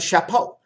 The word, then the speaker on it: chapeau: And they have the chapeau. Chapeau, chapeau. Po is skin, cha is a cat.